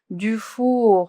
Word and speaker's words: Dufour: Dufour, recuerden que la U en el alfabeto era U, O era U, Dufour.